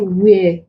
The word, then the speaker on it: where: For example, in the word where, here it is the H that is silent, the W is pronounced.